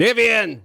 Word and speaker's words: Niviane: I I I mispronounced their name originally. I called them Nivian. It happens. All the way from Sacramento, California, we have the band Niveian.